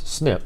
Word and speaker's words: SNP: nucleotide polymorphism snip pronounce snip SNP pronounced snip the direct to Consumer